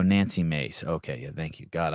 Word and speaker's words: Nancy Mace: Nancy Macy. Oh, God. I did. What is she? U.S. representative. Do I have her name wrong? Nancy I got Mace. M-A-C-E. Oh, Nancy Mace.